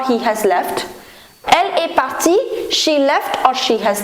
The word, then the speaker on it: partie: So, je suis parti, tu es parti, il est parti, elle est partie with E, but the pronunciation is going to remain the same.